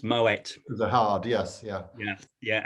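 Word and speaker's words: Moët: Yeah, and there's two little dots over the E called an umlaut. Yeah. And that means that you pronounce the last letter. So it's Moet.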